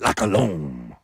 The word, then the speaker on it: La Colombe: La Colombe.